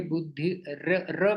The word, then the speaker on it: बुद्धिर्: यहाँ पर सब लोग ध्यान दीजिए, बुद्धि र का उच्चारण करना है यहाँ पर, रेफ।